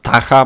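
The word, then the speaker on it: Ptah: Można go znaleźć w wielkiej świątyni ptacha, czy tam tacha, bo tutaj widzę, że on tego p nie wymawia. The p is silent.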